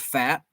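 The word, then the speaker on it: Pfaadt: Well, I don't even know if it's spelled P-F-A-A-D-T. And I think it's pronounced Fat, but I'm not sure.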